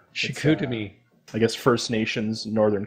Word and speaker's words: Chicoutimi: So now, how do you pronounce that? You put on here it's Chicoutimi? Yeah, it's Chicoutimi. Chicoutimi.